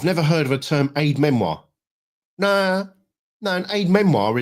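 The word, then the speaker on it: aide-mémoire: never good is it Aid Memoir French pronunciation a French Lan word meaning a memory aid a reminder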